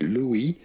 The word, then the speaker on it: Louis: Louis which is of course how we say this in French, silent S.